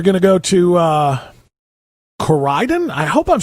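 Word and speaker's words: Corydon: city kim gordon corden oh just cordon okay i saw y in there and it threw me off okay go ahead kim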